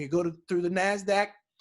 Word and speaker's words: Nasdaq: on the floor now the second one is pronounced Nasdaq and it stands for the National Association of